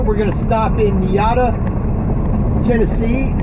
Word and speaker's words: Niota: In about an hour, we're going to stop in Niota, Tennessee. N-I-O-T-A, Niota. Or Niota, or pronounce it. My Baltimore way of pronouncing thing, I will say Niota.